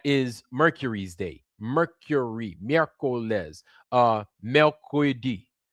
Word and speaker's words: mercredi: Mercredi is how you say it in French.